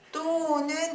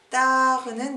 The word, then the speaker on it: tard: 자, 또는 일찍이라는 부사, tard는 늦게 라는 부사예요. 우리가 초반에 봤었던 것처럼 자, 불어에서 끝자음은 발음하지 않아요. 대부분. 그렇기 때문에 여기서도 또 라고 발음하시고 tard 라고 대발음 안 하시는 겁니다.